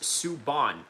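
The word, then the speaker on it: Subban: PK Sububan pronounced Suban."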